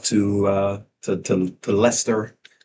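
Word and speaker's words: Leicester: I lived out there for a while, but it is Lyster, I believe, is how they said it. It's spelled L. Was it Lester?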